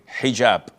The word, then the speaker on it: hijab: otel or Alo but this is an Arabic word so we're Muslims we have to say hijab secondly it is permissible